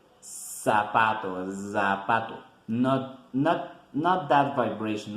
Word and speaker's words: zapatos: sabato shoes in English zapatos zapatos in Spanish zapato and the pronunciation is like the s like the Z in English but we don't make the vibration like in English we gonna say sapatos the pattern not-not-not that